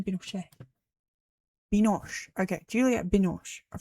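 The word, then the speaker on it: Binoche: Binosh. I knew it was going to be I keep saying Binos. Binos. Okay. Juliet Binosh.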